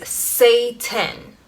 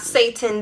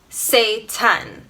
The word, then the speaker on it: seitan: however you want is say 10 no not Satan the devil it's spelled s e i t a n say 10 and it's made from